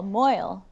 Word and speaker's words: Moyle: but then for example hannah moyle boyle not mule moil yeah i was like